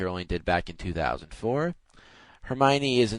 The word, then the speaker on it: Hermione: Hermione. Oh my I god. I really think that's how most people did it. I said Hermione, like hormone, Oh except with an E.